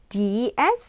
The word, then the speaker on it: describe: 어떤 상황을 묘사하다 또는 이렇게 말로 설명하다 그런 단어가 되는데 describe, describe, D-E-S-C-R-I-B-E describe, 이 cra 여기에 액센트가 있어요.